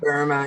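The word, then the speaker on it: Böhme: of the work of Jakob Boehm, or Jakob Burme, however you pronounce that. Burma, yeah, Burma. Burma, and so Burma, as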